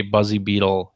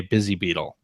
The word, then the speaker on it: Buzzy Beetle: I never say Buzzy Beetle. Instead, I say Busy Beetle.